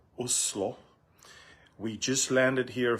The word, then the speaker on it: Oslo: you guys are from I'm in Oslo or the way the locals say Oslo we just landed here